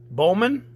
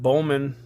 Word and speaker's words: Bowman: got the 23 platinums how do you say it Bowman Bowman it's up to you to let me know I've always called it Bowman but not until recently did somebody say they call it Bowman Bowman first place Future